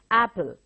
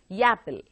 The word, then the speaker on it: apple: Yapple. You understand where the problem is? It's apple, but it is pronounced as yapple.